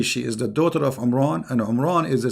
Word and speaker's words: Imran: Moses and Aaron because his name is Imran so the last letter is M not in so the foolish Mohammed he thought that Mary she is the daughter of Imran and home Ron is